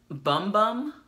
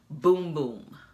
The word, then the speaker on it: Bum Bum: be persuaded to say bum bum but inside of this packaging it has the pronunciation and it says it is pronounced boom boom this will make your